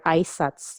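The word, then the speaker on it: あいさつ: Aisatsu, aisatsu, or aisatsu. You must drop the U to have the pronunciation aisatsu.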